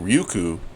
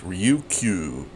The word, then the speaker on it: Ryukyu: okay so the ryuku I think I've been saying it wrong uh I've been saying ryuku but it's ryuku ryuku Islands what even says there